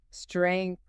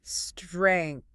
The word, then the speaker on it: strength: This word can be a little tricky part because of the letters at the end. So listen closely. Strength.